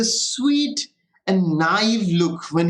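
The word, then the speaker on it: naive: ये गलत नहीं है, that's a French word, it's a French word, it's called नाइव। Pronunciation में ध्यान देना, इट्स नाइव।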